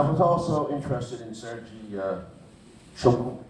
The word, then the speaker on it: Shoigu: And I was also interested in Sergei Shogun, how do you pronounce it? The defense minister, Shoigu.